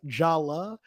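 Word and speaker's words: Jaller: for those who well I'm sorry it's pronounced Jala but they they renamed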